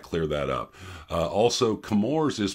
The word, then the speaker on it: Chemours: that up uh also kamor is pronounced like chemistry not chewy and that's where a